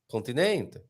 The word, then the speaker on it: continente: Sim, penultima sílaba. But Continente.